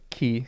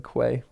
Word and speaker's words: quay: Key. Yeah, sorry. Key rather than Quay. Was Gandalf hiding the ring? Like he's wearing it openly upon his hand now? Quay is pronounced key.